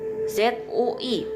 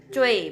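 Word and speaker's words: 最: Nah, ini ZUI pinyinnya dibaca cuy, bukan zui ya, bukan ya teman-teman.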